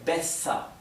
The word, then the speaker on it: besser: Recuerden entonces que la R final se pronuncia de forma casi imperceptible. Por eso no escribí en la transcripción fonética mer, es mea, como si terminara en A. Lo mismo que besser, ¿bien?